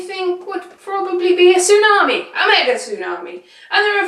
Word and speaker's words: tsunami: would probably be a tsunami Omega tsunami and there are various different reasons for Mega Studio wise tsunamis not spelled like it looks not said how you just sort of said it just then Elise no anyway tsunami